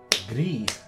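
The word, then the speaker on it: Gris: Gree. Oh, I got confused. So you don't pronounce the S. It's in French. That's French for gray.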